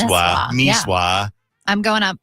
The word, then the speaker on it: Nisswa: It's Nisswa. You always Whatever. pronounce it wrong. It's Niswa.